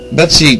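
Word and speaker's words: Betsey: A lot of the stuff that I'm going to tell you now is based on the work of Betsy Lewis, great author.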